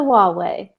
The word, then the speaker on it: Huawei: If you ever have any question on how to pronounce Huawei, just think, it's my way or the Huawei.